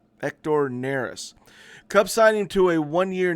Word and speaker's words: Hector Neris: The Bigs his nickname is Happy Hector it's pronounced ector nerys ector nerys Cub signing to a one-year $9 million contract